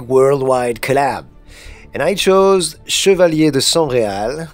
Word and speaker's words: Chevaliers de Sangreal: And I chose Chevalier de Sangreal. This is how we pronounce it in French, by the way. Chevalier de Sangreal from the Da Vinci Code.